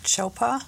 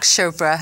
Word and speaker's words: Chopra: some incredible people you have studied with Deepak chopa did I pronounce his name right yeah Dr Deepak Chopra as well as Dr David Simon the co-founders